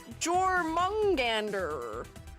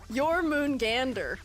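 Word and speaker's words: Jörmungandr: Jormungandr. Is that how you say it? It's Jormungandr? Interesting. You could read J as a Y.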